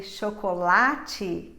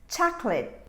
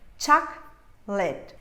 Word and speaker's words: chocolate: the correct pronunciation is chocolate chocolate i have two syllables here chuck lit this last sound that would be late is in fact a schwa sound it's reduced and what